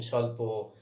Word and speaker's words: স্বল্প: এটা হচ্ছে ব ফলা, এর কিন্তু উচ্চারণ নেই। ঠিক আছে, লুপ্তভাবে ব্যবহার হয়েছে, গুপ্তভাবে ব্যবহার হয়েছে, এর ব্যবহার দেখা যাচ্ছে বাট উচ্চারণ নেই। স্বাধীন, স্বল্প, হ্যাঁ।